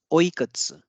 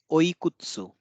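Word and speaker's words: いくつ: Next is another counter for age, which is oikatsu. Oikatsu. Oikatsu. So pay attention to the pronunciation. I didn't say oikutsu. So this is again the devoicing of vowels since this is k and this is ts.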